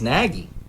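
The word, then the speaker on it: Nagy: there will be some some people will pronounce it as naggie but how does he say it I believe it's I believe it's naggie n a y we got him in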